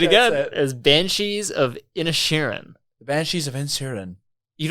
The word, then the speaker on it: Inisherin: like it's just pronounced it's just pronounced in airan and they they pronounce it like that like Ed Sheran but in cheran yeah exactly okay got